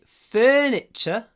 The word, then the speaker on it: furniture: I need to buy furniture for my new house. Furniture. Здесь у нас есть этот сложный звук, двойной. Furniture. Не забудьте, что окончание T-U-R-E произносится ч.